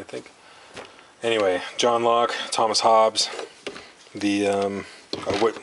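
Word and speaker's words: Hobbes: call it hops because Thomas Hobs spelled the same way bbes we call him Thomas Hobbs not hobbies and uh maybe that's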